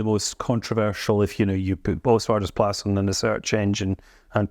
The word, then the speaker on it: Oostvaardersplassen: Well, before I reply to that, Katie sitting over there, do you want to just pronounce Oostvaardersplassen? Because you weren't very good at either, either. Right, it's called Oostvaardersplassen.